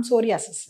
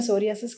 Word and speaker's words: psoriasis: आज हम यूनानी मेडिसिन में एक ऐसे खास मर्ज के बारे में जानेंगे जिसका नाम सोरियासिस है। यूजुअली इंडियन प्रोनाउंसिएशन में सोरियासिस कहते हैं, बट एक्चुअली इसको सोरायासिस बोलते हैं।